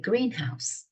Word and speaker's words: greenhouse: 그다음에 a greenhouse 해보세요. 발음해보세요, 여러분. 여러분이 발음하시는 게 제일 중요해요. a greenhouse 하면 온실이죠, 온실. 우리 비닐하우스, a greenhouse. 근데 a greenhouse 그러면 초록색 집입니다.